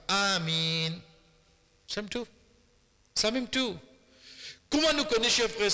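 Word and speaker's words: آمين: Premier, quoi nous vient dire, crier à haute voix, malgré qu'il nous vient avec Hadith là, Et deuxième prononciation, c'est premier A, 10 harakat, deuxième mine, 4 harakat. Amin.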